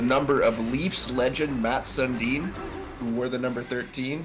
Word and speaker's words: Sundin: Sundin is how it's spelled, but it's pronounced Sundin.